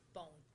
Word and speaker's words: Bohn: Well, Can I just ask you, how are you pronouncing this suspect's last name? Bone? Bone. Bone, all right, I see.